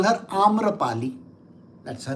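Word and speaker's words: Amrapali: Our pronunciations are Sanskrit pronunciations.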